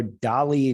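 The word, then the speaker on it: DALL-E: today yeah for sure so dolly two that if you want to spell it's got a weird spelling it's d-a-l-l-e and then the number two and that's like you'll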